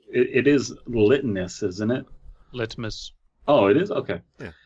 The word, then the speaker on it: litmus: Litmus. Oh, it is. Okay. Yeah. Jennifer it's not limitus, but it is litmus.